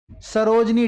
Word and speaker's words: सरोजिनी: देखिए सरोजनी नहीं है, सरोजिनी, ये याद रखो, कई बार स्पेलिंग याद रखो, ये सही लिखा है।